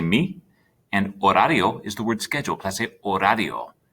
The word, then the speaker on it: horario: let's say me and horario is the word schedule remember that h is a silent letter in spanish so you don't say it it'd be the same